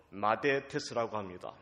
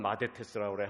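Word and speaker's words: μαθητής: 성경의 제자라는 말을 헬라어로 마데테스라고 합니다. 우리 유초동 어린이도 한번 따라해 보세요. 얼마나 잘하나 봐야 돼요. 그리스 말인데 제자라는 말은 마데테스라고 그래요.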